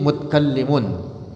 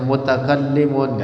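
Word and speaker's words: مُتْكَلِّمٌ: Wasukunut ta'i, dan sukun ta fi mutkallimun. Nah, jadi bacanya mutkallimun, ta'nya disukuni. Iya, dalam bait syairnya mutkallimun, summa sifatul dzati laysat bi ghairi aw bi 'ainil dzati. Li ajlil wazni, karena semata-mata wazan, alasan wazan. Wazan, timbangan bait syairnya kalau dibacanya mutakallimun enggak enak.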